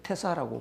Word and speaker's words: 태사: 대사를 이제 태사라고 발음을 하는데요.